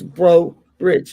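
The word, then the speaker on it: Breaux Bridge: And I said, in Cajun French, anything that ends in EAU or EAUX is pronounced O. That's you you know, I said, so it's Bro Bridge.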